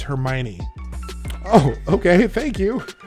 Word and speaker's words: Hermione: book and sometimes they would correct us on pronunciations of things in that book and be like what you know like Hermione we were trying to I didn't know that the girl in the story was called Hermione and so we're reading this book and she